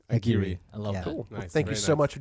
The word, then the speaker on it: Aguirre: your last name please well my grandfather pronounced it Aguirre so Aguirre thank you so much